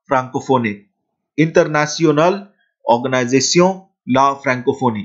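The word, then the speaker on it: la Francophonie: Then international organisation of ला फ्रैंकोफोनी, international organisation ला फ्रैंकोफोनी। तो इस तरीके से आप जो है फ्रेंच टर्म्स को प्रोनाउंस करते हैं, international organisation of ला फ्रैंकोफोनी।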